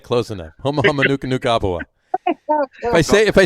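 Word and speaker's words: humuhumunukunukuāpuaʻa: Matt also wants to say the nene isn't nearly as cool as the hama nuka nuka apua. Did I say it right? Huma huma nuka nuka apua.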